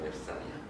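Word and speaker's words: 멥쌀: 자, 그러면 이거 어떻게 발음해? 표기도 맵쌀, 발음도 맵쌀이야. 이해돼? 이게 앞으로 이동을 했다. 그럼 비읍시옷 만나니까 뒤에는 된소리 되겠지.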